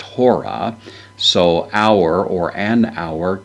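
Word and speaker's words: ὥρα: word with the rough breather at the beginning, pronounced hora.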